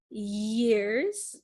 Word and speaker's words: years: years yes yesterday years so there's a y sound yeah yeah like the second word here we said number two is young years this one is ears there's no y sound it's similar but this